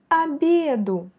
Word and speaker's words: обеду: К обеду, обеду. Voyez le y qui est frappé par l'accent.